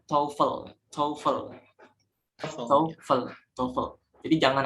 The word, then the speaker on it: TOEFL: bilang TOEFL TOEFL TOEFL yang benar itu cara bacanya taufel software tongkol tongkol jadi